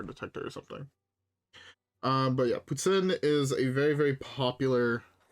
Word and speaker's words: poutine: is a dish called poutine. If you say it with an English accent, I'm sorry, you're wrong. Anybody who says that it's pronounced poutine is wrong and makes me upset.